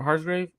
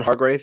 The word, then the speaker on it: Hargrave: their not their main guy uh but Mark harsgrave how do you say is Javon Hargrave yeah Hargrave he's had a phenomenal season so